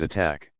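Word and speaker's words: ATT&CK: This acronym is pronounced as attack.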